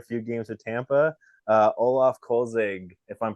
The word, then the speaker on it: Olaf Kölzig: whole career a few games with Tampa uh Olaf kolzig if I'm pronouncing it correctly welcome to the show yeah